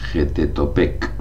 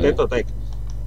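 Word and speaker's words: Xipe Totec: Getetopec, ¿no? Sí, o sea, yo lo pronuncio J porque como está escrito en aquel tiempo y tal, Sí, igual como México, es pues lo que hay. Xipetotec.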